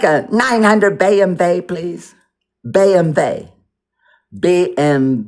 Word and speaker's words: BMW: BMvey. BM V. BMW. Oh, it's BM. W is pronounced V.